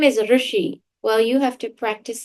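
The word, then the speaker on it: ऋषि: It's not Rishi, it's Rushi. So if your name is Rushi, well, you have to practice saying your name.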